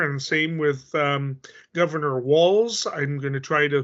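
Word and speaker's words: Walz: same with um Governor walls I'm going to try to pronounce that right I keep saying Waltz is in the dance but it's actually walls as in more than one you know wall um and um and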